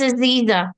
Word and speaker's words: Aziza: Aziza, right? Did I say it correctly? Yes, it's Aziza.